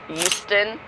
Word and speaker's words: Euston: Euston, like Euston, we have a problem. But without the H.